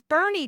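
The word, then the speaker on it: Boerne: somewhere some shop together at this point in Bernie, Texas. Now, if you see Bernie and I'll put it here on the screen. I'll put it right here. It is not born Texas. It is Bernie, Texas.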